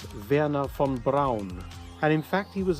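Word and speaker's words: Wernher von Braun: pronunciation of his name most Americans call him wna Von Bron but his actual name in German is Verna Fon Brown and in fact he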